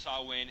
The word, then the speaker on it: Samhain: So Samhain, a Gaelic word pronounced Samhain, is a pagan religious festival originating from an ancient Celtic spiritual tradition.